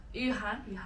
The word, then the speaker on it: Yuhan: They probably don't know the tones. I'm cool like if people pronounce like as they do, but I want to pronounce it as it is.